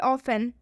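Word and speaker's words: often: एक और एग्जांपल देखिए, ऑफन। ऑफन में भी टी के बाद से ई एन आया है, लास्ट में ऑफन में टी ई एन आया है, तो इसलिए इसमें टी का उच्चारण नहीं होगा।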